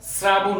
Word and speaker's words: শ্রাবণ: আর অভিভাবকদের জন্য আমার প্রশ্ন হলো যে এটি কেন শ্রাবণ হচ্ছে উচ্চারণ। আমরা জানি বাংলা ভাষায় কিছু নিয়ম আছে, ত, র, ল, ন এবং থ। এই কয়টি বর্ণ যদি স এর সাথে যুক্ত থাকে তাহলে এস এর মতো উচ্চারণ হয়। এই কয়টি বর্ণ যদি স এর সাথে কখনো যুক্ত থাকে তাহলে এস এর মতো উচ্চারণ হবে। যেমন স এর সাথে র ফলা যুক্ত হয়েছে, এজন্য এস এর মতো উচ্চারণ হয়েছে।